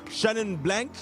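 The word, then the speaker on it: Chenin Blanc: with those Merlo then the next one was Shannon blank yeah that's how you pronounce it that's how you pronounce it you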